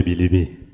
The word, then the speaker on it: Bilibi: Bilibi.